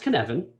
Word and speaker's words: Cynefin: It's pronounced Cynefin, but it's spelled Cynefin, which is kind of like someone trying to cheat at a word game.